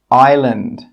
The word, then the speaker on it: island: Number 8, island, island. Number 9, psychology, psychology. Number 10, conscious, conscious. Okay, you can see now that the letters in red are silent letters.